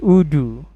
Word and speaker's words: Odoo: baru yaitu Odo ya Odo itu tulisannya kayak gini nih nah Odo gini kan ini eh tulisannya OD oo gitu kan bacanya udu ya kan udu installation Nah